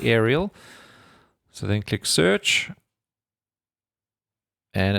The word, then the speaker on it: Aral: There's no I there although you do apparently pronounce it aerial.